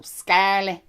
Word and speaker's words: scarlet: Because you don't pronounce the T, and you just have to go scarlet.